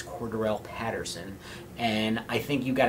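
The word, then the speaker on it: Cordarrelle Patterson: Now, I know you don't know how to say his name, but it's Cordell Patterson.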